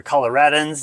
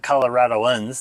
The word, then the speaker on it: Coloradans: Okay, and Coloradans are Coloradans, not Coloradoans. That's typically how they say it.